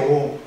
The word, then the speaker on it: 옴: 옴. 기호 자체는 어떻게 쓰냐면 오메가를 써요. 이렇게 오메가를 써놓고 나서 읽을 때는 옴이라고 읽는 거예요.